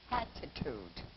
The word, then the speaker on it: hatitude: Hatitude.